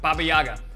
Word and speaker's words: Baba Yaga: How do you pronounce that again, Chris? Baba Yaga.